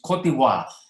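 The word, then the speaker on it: Côte d'Ivoire: this place note that the pronunciation is important here it's kotiwa it's a french pronunciation for ivory coast so it could be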